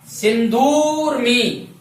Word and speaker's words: सिंधूर्मी: ऋस्व स्वर का उच्चारण एक मात्रा तक होता है और दीर्घ स्वर का उच्चारण 2 मात्राओं तक होता है। सिंधूर्मी लंबे समय तक अर्थात 2 मात्रा तक इसका उच्चारण करेंगे।